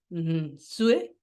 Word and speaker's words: Nsue: Mónica Sue Jurado. Bienvenida a la tertulia del martes. Muchas gracias, María Victoria, y muy bien pronunciado el apellido.